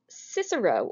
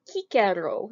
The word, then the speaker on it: Cicero: give you two examples cicero or kikero it's how you pronounce it in latin that order dude i